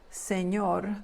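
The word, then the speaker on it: señor: word on the right Senor the N is a Nia sound kind of like in Canyon and the abbreviation is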